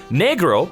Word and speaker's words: negro: Negro, pronounced negro, is the appropriate word a Spanish-speaking child would use for the color black.